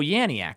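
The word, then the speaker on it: Janiak: uh yanc M and oh yanc that's how you say her name I think you I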